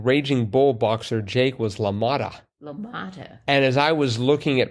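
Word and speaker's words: LaMotta: it came to me lamata so but I was trying to make it Lamont no it's got It's got more syllables than that I don't think I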